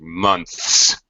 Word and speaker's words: months: Like even the word like months, NTHS, months, February, March, April, May. 3 months, see, gets dropped.